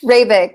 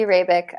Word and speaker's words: Hrabik: first um it's rabbit correct rebec yeah you really did if the H sub completely silent completely silent yep it's check I